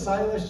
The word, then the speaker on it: Silas: uh my name is Silas just to give you a little bit of a background I'll actually give you my name it rhymes with stylish I get asked a